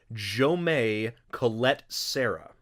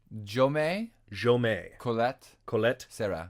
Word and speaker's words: Jaume Collet-Serra: I have heard that is Jaume Collet-Serra. Jaume Collet-Serra. Serra. He's Spanish. Okay.